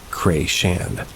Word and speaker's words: Chrétien: There's a place near where I grew up called Chrétien, pronounced Cray-Shan.